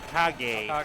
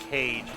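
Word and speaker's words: Kage: That ninja kind of reminds me of uh Legend of Kag. Kag. Yeah, that's right. Good call. Sorry, I almost said cage, which is the incorrect way to say it.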